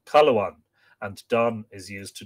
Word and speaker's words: Cathluan: For Cathluan is with us pronounced Caluan, and Don is used to denote the posterity of any person.